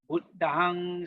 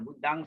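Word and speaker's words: Buddhaṃ: Buddhang Saranang Gacchami. Buddhang Saranang Gacchami. Dhammang Saranang Gacchami. Sanghang Saranang Gacchami. Remember, M with the dot is pronounced as NG.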